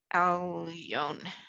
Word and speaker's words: Elyon: The last word, it's a silent letter, so it's just the vowel. It's an Oh. ion. Yep, okay. Elyon.